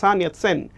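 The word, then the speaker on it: সান ইয়াত সেন: সানিয়াত সেন মানে হচ্ছে চাইনিজ উচ্চারণ করলে যেরকম লাগবে সেরকম উচ্চারণ করতে হবে, সানিয়াত সেন।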